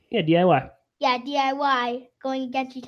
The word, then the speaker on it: DIY: Yeah, DIY.